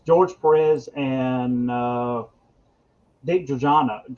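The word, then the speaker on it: Giordano: perez and uh dick giorgianna is it jordano is how you say it goradano um oh yeah this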